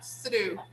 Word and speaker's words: threw: Yesterday I threw. Okay? They both have the same sound.